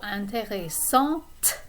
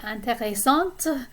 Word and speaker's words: intéressante: The middle set of adjectives, we have intéressant or intéressante. So this is masculine versus feminine. You pronounce the T in the feminine form.